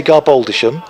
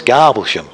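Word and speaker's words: Garboldisham: monday thanks says philip now you're going to say garboldishum i am if you're from norfolk yeah it's garblesham that's right you see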